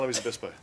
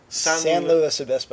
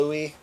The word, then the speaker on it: San Luis Obispo: Why San Luis Obispo? I'm asking you, Brian. Why San Luis Obispo? Well, and how do you pronounce it? San Luis Obispo. San Luis People that call it Obispo. Louis.